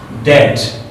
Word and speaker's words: debt: And this is dbt. This is debt.